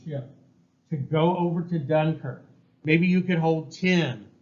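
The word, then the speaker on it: Dunkirk: on the co called dunker right is how we pronounce it in English dunker and I don't know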